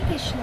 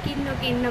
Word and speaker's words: কৃষ্ণ: কৃষ্ণটা না ভালো করে উচ্চারণ করতে পারে না, কিন্ন কিন্ন করবে এরকম। কৃষ্ণ কথাটাই একটু শক্ত, ওয়ার্ডটাই একটু শক্ত।